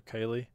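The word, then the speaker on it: Caileigh: We'll do Kaylee, and it's spelled this way.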